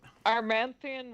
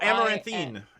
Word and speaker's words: Amaranthine: Armanthian wall. Spell it? AMARANTH. Oh, Amaranthine.